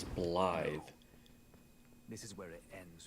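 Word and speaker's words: Blaidd: blide I it's funny it's spelled blade bigy l a i d d right blade but it's enunciated as blide this is where it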